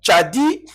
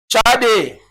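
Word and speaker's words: צדי: Alors, tchadi a sa forme finale. Maintenant, on peut répondre tchadi, tchadé, tchadik. Voilà, il y en a qui prononcent tchadik, tchadé et tchadi.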